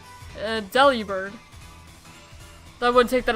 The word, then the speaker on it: Delibird: According to the Pokemon Handbook I have, it's pronounced Delibird.